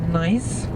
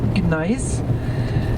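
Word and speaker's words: gneiss: see along the way it is a special type of nice with a silent g nice nice but came into being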